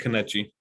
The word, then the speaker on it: Kanvchi: I've always pronounced it Kanuchi. So I guess I would spell it Kanvchi.